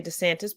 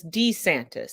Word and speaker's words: DeSantis: of Ron I'm sorry we all say to Santas but he himself says D santis so you know I'm